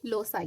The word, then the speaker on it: loci: तो जो लूकस का प्लूरल होता है उसी को लूसी, इसको प्रोनाउंस कैसे करते हैं? लोसाई। तो आपका ये लेसन का नाम क्या हो गया? लूसी नहीं है बल्कि लोसाई है।